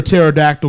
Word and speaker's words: pterodactyl: alright alright number two why can't you hear a pterodactyl go into the bathroom why because the P is silent huh okay let's earn